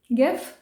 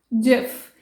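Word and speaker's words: GIF: सो the next one इज, एज यू कैन see over here, आप ही बताइए इसको क्या बोलेंगे? गिफ? नो, इट्स जिफ। यस, इट is starting with G and its full form is graphic interchange format.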